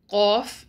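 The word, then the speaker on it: قاف: When the deepest part of the tongue touches the soft palate of the mouth, then qaf is pronounced.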